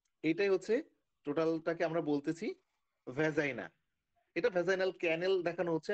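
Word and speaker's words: vagina: তাহলে আমরা 4 নম্বর যে অর্গানটা পেলাম সেটা হচ্ছে ভ্যাজাইনা, তো আমরা ভুল করে যেন ভাগিনা উচ্চারণ না করে বসি, ভিএজিআইএনএ ভ্যাজাইনা।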